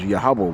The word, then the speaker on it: Yahawah: By applying a long ah to pronounce consonants of the transliteration Y HW, it would be pronounced Yahaba. That's the rules of PaleoHebrew.